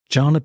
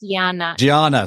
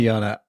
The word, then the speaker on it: Jana: didn't tell you that my name is pronounced gaana sorry I do I do apologize I normally say that my biggest apologies yeah yeah so anyway Yana how are you today